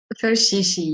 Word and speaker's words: Ferchichi: Ferchichi, yes. It's like a French pronunciation, not the English one.